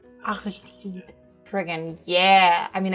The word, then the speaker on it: Aristide: Reference in French, it is said as Aristide. Aristide.